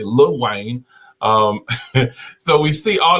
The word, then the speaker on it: Lil Wayne: um then little wayne a little wayne let me say it correctly lil wayne um so we see